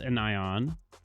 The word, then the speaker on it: anion: It's still pronounced anion, but it's just one word. An ion.